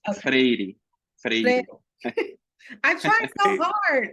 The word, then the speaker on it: Freire: How do you all pronounce his name? Paulo Freire. Paulo Freire.